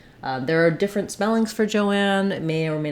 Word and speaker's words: Joanne: Then lastly, we have Joanne, and the difference here is that we have a two-syllable name. So Joan, we have just the O vowel. In Joanne, we do have the O vowel, but the separation is here. So it's just spelled with O, and letter A is saying the ah, black cat vowel.